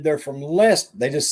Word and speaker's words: Leicester: place up home where i'm from it's called it's spelled l-e-c-e-i-s-t-e-r now some people say i'm from leecester lee sester but everybody that's from up there said they're from leicester they just say lester they don't stay say